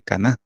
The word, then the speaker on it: Caná: Que es las bodas de Caná, ¿va? Porque lleva tilde, ¿va? Las bodas de Caná, de Galilea.